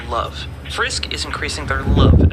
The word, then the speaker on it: LOVE: hands on, increasing their level as they go. Um, actually, it's not pronounced level. It's pronounced love.